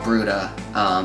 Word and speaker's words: Bruda: But we do a large group now called Bruda, and we also do duo style stuff.